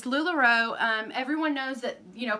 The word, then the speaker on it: LuLaRoe: I say it right sometimes I say Lula Roo and that's not right it's lularoe everyone knows that you